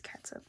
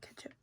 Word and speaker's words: catsup: I'm sorry, but when it's spelled like that, it's catsup, not ketchup.